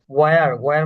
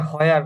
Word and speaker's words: where: ওয়ার মানে হচ্ছে কোথায়, মানে ওটা হয়ার, আমরা যেটাকে সাধারণত বলি হয়ার, যে কোথায়, ওটা কিন্তু এগুলো তো হয়ার না, কোথাও ওটা ওয়ার হবে।